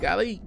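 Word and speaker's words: Gally: Gali. They pronounce like Gari. That's the actual name of Alita.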